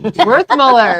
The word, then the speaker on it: Werthmuller: Werthmuller.